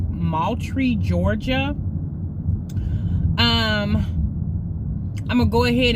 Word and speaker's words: Moultrie: young lady in lived in the city's per-mile pronounced Moultrie Georgia I'm gonna go ahead and show you